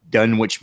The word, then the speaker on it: Dunwich: I like the way the Dunwich monster triggers.